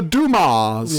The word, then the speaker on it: Dumas: we'll be the Dumas. Yeah. Nobody pronounced the S. It's a silent S!